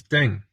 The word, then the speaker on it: Ding: she says, it because my surname is Ding, that it rhymes with king.